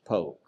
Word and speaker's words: Polk: It looks like it would be Leonidas Polk, but it's Leonidas Polk.